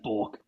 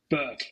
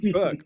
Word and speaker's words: Bourke: It's your language, but it's pronounced Burke. Burke.